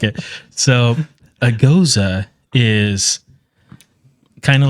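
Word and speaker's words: Gose: So I just handed Alfredo a blood orange goza, is how you pronounce it.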